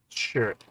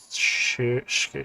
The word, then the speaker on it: Schurz: Schurz is pronounced Schurz. Schurz.